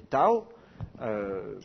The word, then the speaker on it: tav: l'Antiquité ça se prononcer Tao maintenant ça se prononce TAV la lettre Tao vous